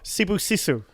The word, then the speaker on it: Sibusiso: Sibusiso. Yes. No, there's no K.